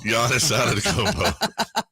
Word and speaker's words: Giannis: Why isn't Giannis the Adonis? Why is that? Why isn't he's trademarking everything? Why doesn't he trademark that? His name literally rhymes with Adonis, and he's an Adonis.